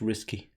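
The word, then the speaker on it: risqué: as well is the it was risque content so at the time Brands were a bit pronounced risky oh risky um so brands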